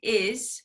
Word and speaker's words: his: If he's not in his room, is, right? Because we don't pronounce that H sound.